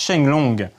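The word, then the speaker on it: 升龍: Mais en chinois, les kanji de Shoryu, le dragon ascendant, se prononcent Shenlong.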